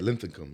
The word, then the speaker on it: Linthicum: Linthicum? Yeah, Linthicum.